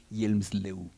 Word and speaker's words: Hjelmslev: Allí ven, se escribe así, pero se dice Hjelmslev.